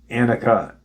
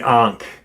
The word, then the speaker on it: Ankh: from deep space and Sirius B, utilizing the Anka as a cornerstone. Can't believe I'm pronouncing it wrong. The Ankh as a cornerstone, with additional purposes of strengthening